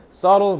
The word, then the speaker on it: subtle: was beautiful Historical artistically subtle sule 무슨 뜻이 비를 살짝 먹어야 돼 발음할 때 sle 이거는 변하긴 하는데